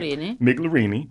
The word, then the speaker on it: Migliorini: We've got Laura Migliorini, I got to say it right, Migliorini, and also the manager of Milano, Miss Laura Trent.